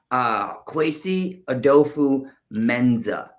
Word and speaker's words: Kwesi Adofo-Mensah: I cannot pronounce his last name. Could you say it for us again? Kwesi Adofo-Mensah. Kwefi Adofo-Mensah.